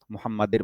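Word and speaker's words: محمد: এখানে একটা ভুল করে অনেকে, সেটা হচ্ছে মুহাম্মাদের বলে। মুহাম্মাদের। হুম? যে পয়েন্টগুলো ভুল হয় আমি ওগুলো ধরাই দিচ্ছি আরকি। মুহাম্মাদের বলে।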